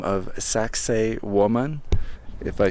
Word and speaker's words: Saqsaywaman: by the name of sax woman if I say it properly uh which yes yes yes it does sound like sexy woman uh but it's a